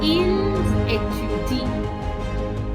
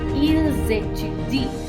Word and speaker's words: ils étudient: Although there is an S at the end of il and elle plural, I will not pronounce it unless it is followed by a vowel sound. For example, ils étudient, they study.